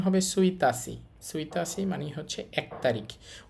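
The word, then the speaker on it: 一日: উচ্চারণটা ঠিক নেই। উচ্চারণটা ব্যতিক্রম। উচ্চারণটা হবে সুইতাসি।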